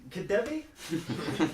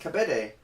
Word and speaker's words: Kabede: and our new student Kabede, Kadevi. Sorry, how do you pronounce that? It's pronounced Kabede.